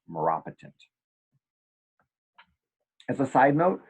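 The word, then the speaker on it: maropitant: for pain and again it's pronounced Maura patent or some people like me say marrow pit n't I guess technically it's pronounced Marat patent as a side note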